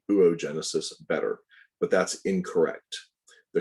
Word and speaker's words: oogenesis: a quick note okay oogenesis also pronounced oh ooh genesis the formation of that